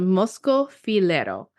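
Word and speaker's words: Moschofilero: still in the white wine territory is called mosco fero it is spelled m oos c h o f i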